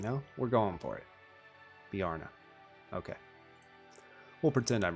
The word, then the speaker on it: Bjarne: Oh, it's Bjarne? Okay. Bjarne. That makes sense. Ah. If I got the first name, not bad, right? You know, we're going for it. Bjarne.